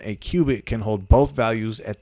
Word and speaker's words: qubit: the sociable it says in quantum computing a qubit and this isn't the measurement for height this is spelled q-u-b-i-t which is a quantum bit is